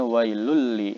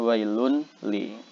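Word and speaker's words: وَيْلٌ لِّكُلِّ: dimasukkan ke huruf lam jadi bacanya wailuli bukan wailun Lee nah seperti itu kemudian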